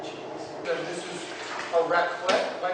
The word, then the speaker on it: raclette: And this is a raclette, am I pronouncing it correctly?